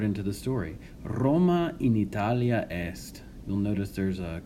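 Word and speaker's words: Italiā: okay also notice that Italia here has a long mark or a make Ron that is the line above the final a that means that a is pronounced for twice as long and the reason is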